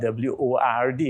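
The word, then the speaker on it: wyrd: The ancient word for void was word, but it's not W-O-R-D. It had nothing to do with scriptures, nothing to do with any writings. It was W-Y-R-R-D, pronounced word, which meant the void.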